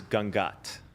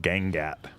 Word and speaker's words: Gangat: i'm gonna give you the proper indian pronunciation from india by the way is gangat oh okay that makes sense if if you're from new england like me you might say like gengat because we tend to